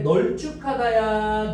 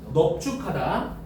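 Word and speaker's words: 넓죽하다: 여기서는 넙죽하다 할 때 널쭉하다야, 넙죽하다야? 넙죽하다.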